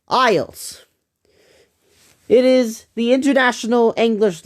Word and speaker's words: IELTS: It says I E L Ts. It's it's pronounced ISS.